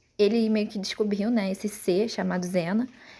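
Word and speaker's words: Xana: Chamada Zena, mas ela se escreve assim, né? No português não ia ficar legal, né? Chamar desse jeito, mas por isso que botaram a tradução original, né? Chamada de Zena, não de Shana, né?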